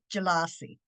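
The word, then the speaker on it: Pjila'si: l a apostrophe SI that sounds pronounced jelassi and it means welcome however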